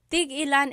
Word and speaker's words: tig-ilan: So tig-ilan, when there's a hyphen in it, you have to have that glottal stop. Tig-ilan. That means how many of each. When there's no hyphen, tigilan, tigilan.